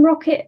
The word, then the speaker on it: ROKiT: Yeah, it was ROKiT Venturi, and again, everyone there called it ROKiT, so I think we understand how it's supposed to be pronounced at this point in time.